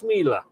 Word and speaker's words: Schmeller: Apparently it's pronounced Schmeler.